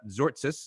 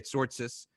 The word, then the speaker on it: Tzortzis: have our guest hamza zortsis i'm trying to pronounce it properly uh but people usually say sortsis but it's zortsis for everyone who knows greek but this episode is